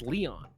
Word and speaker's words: Leon: going to be uh Leon it's pronounced Leon I I lived next to a guy whose name whose last name was lion spelled the same way so Leon it is